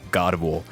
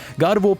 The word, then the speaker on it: Gardevoir: Ladies and gentlemen, may I introduce Gardevoir, a Pokemon with a kind of French pronunciation.